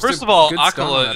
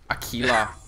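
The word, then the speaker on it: Aquila: Visage manages Akala is probably not how you say it. Akila. Ring of Akila.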